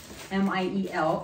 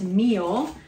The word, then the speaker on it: Miel: which is called Miel, M-I-E-L. I've heard that pronounced meal. My associate assured me that it is Miel, so I'm sticking to that unless someone corrects me otherwise.